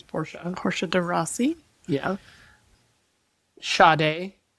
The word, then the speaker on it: Porsche: It's not pronounced Porsche, it's Porsche.